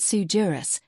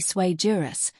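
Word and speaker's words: sui juris: It's not sujurus, it's actually swayurus, which in Latin basically means crayon cruncher.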